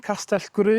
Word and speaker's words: Gwrych: And uh yeah, it's near Gur Castle, Castell Gur. It's a tough Welsh word to say, Gur.